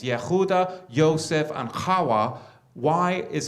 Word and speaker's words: Yehuda: Whether they say Yehuda or Yehuda, it's not Yehavada.